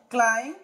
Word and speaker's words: climb: Yes, whenever we find MB at the end of any English word or in the middle of an English word, the B must be silent letter. Thumb, bone, climb, lamb, dumb, flama, succumb, num, tomb, limb, crumb.